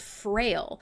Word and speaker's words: Frayle: I want to play something by a band called Frail. Now, it's spelled Frayle, so not your traditional spelling.